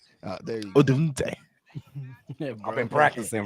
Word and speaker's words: Odunze: Odunze. There you go. Odunze.